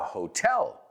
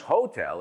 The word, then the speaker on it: hotel: Well, all of you have been to a hotel, I imagine, right? Y cuidado con la pronunciación, no es hotel, it's hotel.